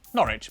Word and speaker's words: Norwich: W at the start of the final syllable is silent. Norwich, Beric, Suk.